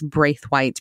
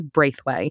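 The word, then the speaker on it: Braithwhite: of christina braithwight and i'm going to have trouble this season pronouncing this character as brave white because i am from new orleans in new orleans this is braithway and gene had to correct me before we even started recording so i've got to get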